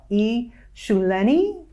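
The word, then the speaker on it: eShuleni: to pronounce this myself e shuleni perfect you pronounced it right on uh right on point excellent tell us about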